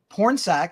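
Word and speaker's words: Pornsak: DC and uh is it porn sack it's it's porn saac yeah is his first name like a porn uh Sak but okay the yeah the other word is is or the other half is spelled as you would expect gotcha uh so yeah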